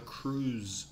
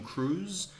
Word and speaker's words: cruise: on a cruise ship B carefully the pronunciation you know the act of Tom Cruise it's the same pronunciation there's vibration at the on the final consonant sounds like a B's cruise cruise do you like cruises